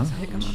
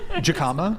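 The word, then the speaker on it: jicama: Hickama, by the way.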